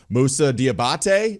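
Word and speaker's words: Moussa Diabaté: a couple of takes that you had yesterday Musa diabate is that how we pronounce it I heard some of your breakdown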